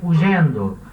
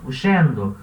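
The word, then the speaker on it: huyendo: Então, eu leio uyendo. Alguns lugares vai ler uyendo. Outros lugares vão ler ugendo. Outros lugares vão ler uxendo. Enfim, a pronúncia que você quiser adotar. Eu pronuncio uyendo, tá? Como se fosse um I aqui.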